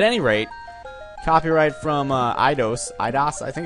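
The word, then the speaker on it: Eidos: rate copyright from uh idos idos I think it's idos I actually looked up the the Wikipedia entry for them and the pronunciation key says idas so I'm going to go with idas um they apparently or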